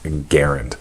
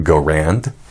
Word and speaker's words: Garand: actually pronounced his name I'm gonna go with how he preferred it because he actually did state of preference in print and that is garand now if you would prefer to pronounce that you go Rand that's fine too even though you're really wrong so at any rate